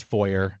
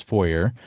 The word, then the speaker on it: foyer: Most everybody else says foyer, and that's fine with me. I'm gonna assume that that's the more accepted English pronunciation anyway, is foyer. But I'm okay with either one. Well, apparently, there's some debate. Apparently, Canadian and British English prefers your method. American English prefers foyer.